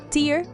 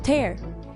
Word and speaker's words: tear: was speeding homograph words words that are spelled the same but are pronounced differently example number one tier vs tear a tear falls down